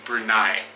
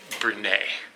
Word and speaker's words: Brunei: or berai and he said that it is brunai like the goat that we rented same name